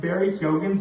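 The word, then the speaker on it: Keoghan: because um well for starters I got I pronounced Barry Hogan's name right in my earlier video so I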